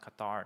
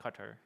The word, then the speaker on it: Qatar: Hopefully I'm pronouncing I know Qatar is pronounced Qatar, not Qatar.